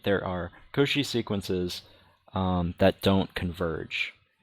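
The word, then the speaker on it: Cauchy: reminder reminder um a sequence is Koshi I believe is the pronunciation Koshi if um for any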